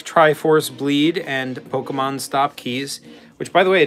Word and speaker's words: que: okay is Spanish expelled q-u-e it's pronounced ke and that is Spanish